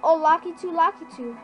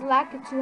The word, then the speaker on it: Lakitu: Oh, Lakitu. I don't know. I think it's Lakitu how you say it properly. Lakitu.